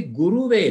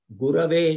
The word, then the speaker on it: Gurave: It will not be Guruve Namaha. We don't say Vishnuve Namaha. We say Vishnave Namaha. Akar is there, no. Same case here, Gurave Namaha.